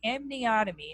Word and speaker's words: amniotomy: So amniotomy, I'll spell it for you.